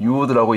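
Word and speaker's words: יוד: 그래서 여기서 나오는 이 1.1획이 사실은 그 히브리어 알파벳 가운데 10번째 순서인 이 요드 혹은 유드라고 있는데, 앞에서 보시는 이 글자가 요드 혹은 유드라고 있습니다.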